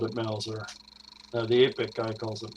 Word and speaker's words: Mauser: Um, Is that how you pronounce that? It's not Mouser. I say Oh, Mauser.